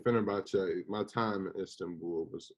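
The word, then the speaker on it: Fenerbahçe: Fenerbahce. Fenerbahce.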